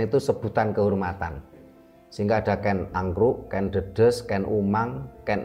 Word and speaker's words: Ken Arok: Dan di berbagai video kita juga sudah kita sampaikan, memang membacanya bukan Ken Arok tapi Ken Angkruk.